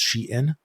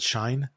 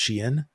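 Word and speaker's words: Shein: learned within the last few weeks that it's pronounced Sheen and it's pronounced TAMU which is not the way I pronounced either of those brand names okay yeah like I always called it shine and U many people call the shine but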